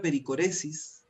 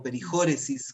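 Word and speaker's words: perichoresis: Entonces la palabra pericoresis, o perijóresis, como tú quieras pronunciarlo, si es en griego o en castellanizado, significa, que viene del mundo del teatro, significa bailar uno alrededor del otro.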